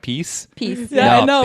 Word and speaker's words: PiS: and led to parties like uh fides and piss being elected piss i'm upset to find out now that it's pronounced what peace i always say peace yeah i know it